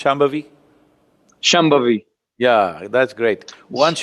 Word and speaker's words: Shambhavi: Can you pronounce Shambhavi?